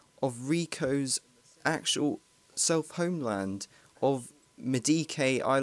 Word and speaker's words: Medici: This time, in the setting of Rico's actual self-homeland of Medike, I like to pronounce a location, but officially it's called Medici, I've just heard.